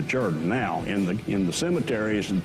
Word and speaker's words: Jordan: Charleston told me that it was a Welsh pronunciation, that the Welsh did not want to be confused with the Irish. So they took the Jordan and turned it into Jordan.